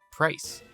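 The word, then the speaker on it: Pryce: So with a few more levels under our belt, let's take on Mahogany Gym leader, Price. Rhymes with ice.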